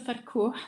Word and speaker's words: Farkouh: So, my name is Farkouh, like I was saying before. So in Egyptian, you pronounce the H.